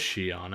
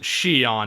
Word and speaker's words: Xion: I wonder if Shion's gonna Where is Shion anyway? Yeah, I like to pronounce it Shion, not Shion. It just bothers me slightly.